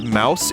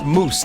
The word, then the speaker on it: mousse: You don't say You don't pronounce it as mouse. It's pronounced moose, not mouse.